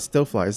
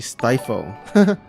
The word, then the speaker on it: Stifle: oh I just realized it's not still flies actually stifle my bed sorry for